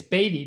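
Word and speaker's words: Beatty: gotta say something it's baby yeah please it's baity nevada okay did i spell it wrong too or just no that's spelled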